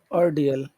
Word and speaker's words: ordeal: you yeah was an ordeal Oreal okay yeah where's the accent on which syllable has the accent on Oreal is it the first it syllable or the second it's the second second syllable okay second Sy all